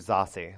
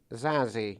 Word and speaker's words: Zazie: Zazie is, I think it's actually Zossie, like Stassi. I actually looked this up, and there's a YouTube video that says how to pronounce names, and they said Zazie.